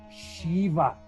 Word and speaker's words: Shiva: Shiva.